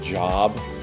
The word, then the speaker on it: Job: On day 23, we study about Job. Actually, it's pronounced Job.